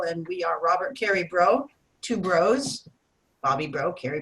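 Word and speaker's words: Broe: Our last name is Bro, B-R-O-E. Both of us together, two bros, but we spell it like the healing flower.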